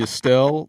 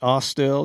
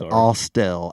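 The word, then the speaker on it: Austell: we went to the Estelle donut and C shop no it's AEL the AEL donut we are in Georgia you have to pronounce it correctly it's AEL a u s t e l l well I'm the one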